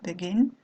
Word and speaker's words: begin: Donc par exemple, ce verbe-là, vous allez prononcer begin, et l'accent tonique tombe sur la dernière syllabe, begin.